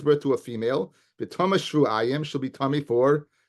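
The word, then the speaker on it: שבעים: So I pronounce it shvuayim. Yochelte yoledes Keva Tameya shivim. I might think she's tummy for 70 days, because that's the way it's written.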